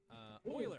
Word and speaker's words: Euler: Do you pronounce it Oiler or Oila? And all my professors pronounced it Oiler with the occasional... who did what? Hang on, my thing froze. Euler Tour, you followed me. Euler, all right, that's how you pronounce it.